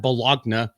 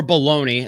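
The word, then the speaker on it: Belloni: Now, this comes from Matt Bologna, or Bologna, as some people want to pronounce it.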